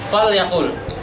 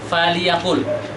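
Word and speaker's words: فَلْيَقُلْ: Fal yaqul khairan au liyasmut. Itu harusnya. Jadi kita bacanya bukan faliyaqul, tapi fal yaqul.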